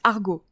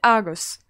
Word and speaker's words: Argos: d'après mais le bac ça se prononce argot et moi je le vois toujours écrit argos donc moi j'ai la prononciation britannique moi je dis argos j'avais entendu aogo donc moi j'ai toujours entendu dans mes cours et dans les labos hugo mais vous avez bien